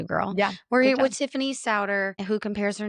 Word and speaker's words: Sauder: Is it Solder? It's Ser like rhymes with chowder which I'm sorry I didn't help you with that.